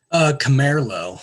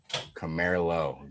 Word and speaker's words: Camerlo: Camerlo. So like Camaro, but with an L. Camerlo.